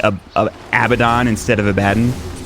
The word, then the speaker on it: Abaddon: And Abaddon. If you say Abaddon, I say Abaddon. Abaddon. That's how it's pronounced. That's how it's spelled anyway. That's how it should be pronounced.